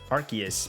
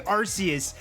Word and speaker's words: Arceus: me just or legends arceus because i say arceus and they pronounce it arceus i think so alba